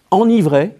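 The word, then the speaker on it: enivrer: dans émerveillé ou énervés une exception enivrait qui se prononce en mai avec un seul n en revanche lorsqu elle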